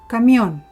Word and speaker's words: camión: When a word is called aguda, that means that you have the sound or the stress that falls into the last syllable. For example, camión.